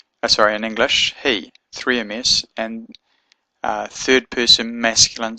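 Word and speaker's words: היא: Hebrew is this word here hey yard or Herick yard Aleph which is pronounced he so the word for she is the word hey yud aleph which was pronounced he so I hope that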